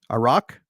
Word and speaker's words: Aruk: the kingdom kingdom of aruk aruk a rock a rock yeah that's how they pronounced it in the movie is it okay yeah